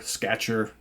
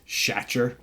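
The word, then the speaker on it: Schacher: forever but he's got it's s-c-h-a-c-h-e-r so you would think it's shatter but it's I think it's Sketcher or something like that um or satcher some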